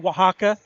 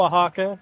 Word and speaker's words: Oaxaca: This could be our final game together before you head out to Oaxaca. I finally figured out how to say it. It's okay. No one really can say it right. So Mexico, Oaxaca.